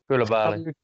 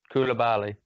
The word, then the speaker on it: Koulibaly: God, how do you pronounce his name? Koulibaly. Yeah, that's the one. Hey, how do you pronounce it? Koulibaly.